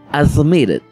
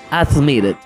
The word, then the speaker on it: admitted: cuando un verbo termina con t o con letra T tenemos que cargar un pequeño sonido e al final lo que se traduce como admit admitted admit admitted y cuando empiezas a